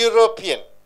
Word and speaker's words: European: See, A European, A university, you don't use.